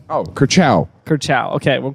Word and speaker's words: Curcio: They're saying Curcio. I would say Curcio. How's it spelled? C-U-R-C-I-O. Oh, Curcio. Curcio.